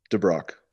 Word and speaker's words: DeBrocke: how do you say your last name daniel de brock okay danny de brock thank you my friend